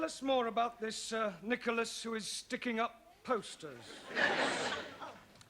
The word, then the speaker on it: Nicholas: upon a times there was a man called nickel ass that's not quite right no no once upon a time there was a woman called Nicholas it's pronounced Nicholas so right once upon a time there was